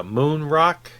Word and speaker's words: Moen Rock: used to be uh moon rock which is a denmark pronunciation of the letters but anyway and then